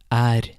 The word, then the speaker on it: er: Occasionally, the E will also sound like the letter A. An example is er, which means is.